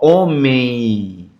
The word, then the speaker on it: homem: Homem. Homem, tá vendo? Homem. Então, na pronúncia, o som traz o i desse m, homem. Ó, o i no final.